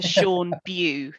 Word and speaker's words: Sean Bew: Can I just double check that I'm pronouncing your name correctly? It's Dr. Sean Bew, is that right? Yeah. Yeah. Yeah, that's right.